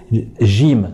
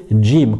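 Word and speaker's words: جيم: faut bien comprendre c'est qu'il ne faut pas la prononcer gym surtout lorsqu'on réussit le rôle dans la récitation du reprennent ce qu'il faut dire c'est jim comme si qu'il y avait un petit des juste devant jim déjà j zhu et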